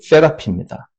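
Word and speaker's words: therapy: 거기서 영어 테라피가 나왔어요. 무슨 테라피, 무슨 테라피 이러잖아요. 예. 테라피라고 테라피. 영어 발음으로 세라피입니다.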